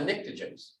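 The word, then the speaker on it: pnictogens: under nitrogen are the nictogens the p is silent nitrogen has a three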